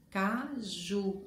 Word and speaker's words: caju: o fogão assim aí eu falo caju a sílaba mais forte é ju a última sílaba caju caju então quando